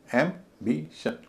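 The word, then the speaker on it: ambition: जैसे एंबिशन एम्बिशन तीन syllable है। पहला सिलेबल एम बोला जा रहा है।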